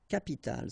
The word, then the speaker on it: capitale: Une capitale, so you can see that we pronounce it the same way, but as we had previously, you've got to put this at the end, okay?